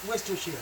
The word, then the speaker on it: Worcestershire: Worcestershire, yeah.